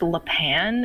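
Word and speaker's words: Lapin: N yet it's pronounced Le Pan and I'm like you know an A doesn't make an I sound.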